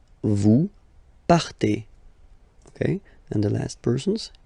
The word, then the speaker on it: partez: Okay, then for vous, classic ending for vous as well, EZ, but then you pronounce it et, vous partez. Vous partez.